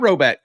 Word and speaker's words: Rhoback: That's spelled RHOBACK, Roback, not row forward. That's 20% off all performance polos, shorts, and more with the code Auburn20. Appreciate Roback sponsoring the show.